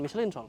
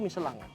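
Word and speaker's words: Michelin: pasangkan dengan ban sebenarnya bacanya bukan miselin apa tuh yang benar bacanya tuh yang benar tuh Melang nah cuma udahlah biar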